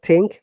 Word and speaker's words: think: If your tongue touches the tooth, pronounce the word think, Mohim.